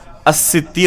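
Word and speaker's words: السِّتِّير: میں سے الستیر ہے۔ تو حقیقت میں صحیح تلفظ اس نام کا کیا ہوگا؟ الستیر ہوگا، ستار نہیں۔ تو اسی طریقے سے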